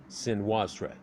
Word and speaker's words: Senwosret: of course we actually say senior surrett and it's very Americanized and he'll i'm techni fide so you get a lot of that out of it but in their language if you were to pronounce it out phonetically off of hieroglyphs it would come off as more of swin wasurete senwosret and the so that